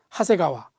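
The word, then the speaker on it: 長谷川: 그 다음에 내천자를 써놓고 장곡천, 한자는 이렇게 써놓고 읽을 때는 하세가와, 이렇게 또 읽습니다.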